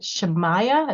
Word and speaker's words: Shamaya: then next I'll say is it shamaya is that how it's pronounced it is you got it just right um my name is